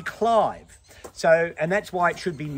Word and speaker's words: Clive: which makes sense because she wasn't Lady Cliv. She was Lady Clive.